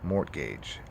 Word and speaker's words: mortgage: mortgage you have a mortgage on your house it's spelled m-o-r-t mort gadge mortgage m-o-r-t-g-a-g it's a very odd spelling for such